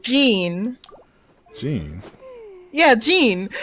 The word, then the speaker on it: Jean: John she has like Jean Jean yeah Jean I was like there's John J O hn there's a John no no not a John John it's like a it's like Jean I I don't know